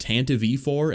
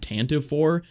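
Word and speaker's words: Tantive IV: look this up myself it is pronounced tantav4 and not tantiv4 i only looked into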